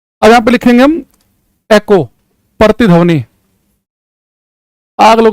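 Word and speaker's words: echo: इसे आप इको एकको जो भी कहना चाहो आपकी मर्जी है। सही प्रोनाउंसिएशन एकको है। इको कह लो कुछ नहीं फर्क पड़ेगा।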